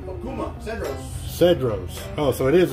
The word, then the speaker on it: Cedros: Okuma Cedros.